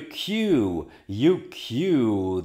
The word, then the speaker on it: queue: You queue. This is the pronunciation is a K, J, U, and the two dots tell you there's a long U in here.